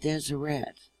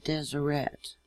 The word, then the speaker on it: Deseret: They travel with DesereT. And it's not DesereT. I made that same mistake myself. Okay? You pronounce the T. You sound out the T on the end.